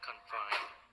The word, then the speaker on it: confine: Like here, confine, you can see you stress the second syllable.